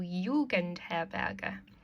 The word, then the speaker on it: Jugendherberge: So, in einem Hotel, in einer Pension, in einer Jugendherberge. Remember, J's are pronounced like a Y, so Jugendherberge.